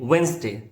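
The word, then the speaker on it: Wednesday: सो से it like वसडे short and smooth.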